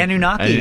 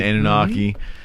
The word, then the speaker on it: Anunnaki: The Anunnaki, am I pronouncing that? Anunnaki. Anunnaki.